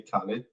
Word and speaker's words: Khalid: everyone my name is Khalid for those who can't pronounce okay it's like Khalid but you can say Khalid or DJ Cali I'm from Afghanistan and